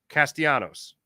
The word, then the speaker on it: Castellanos: Were you pronouncing the L's like he's Greek? Because that's what I did when he first came up with the Tigers many years ago. But he's not Greek. He's a Latino.